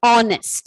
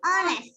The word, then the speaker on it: honest: Similarly, honest. And honest. So we have to use and. H is silent here.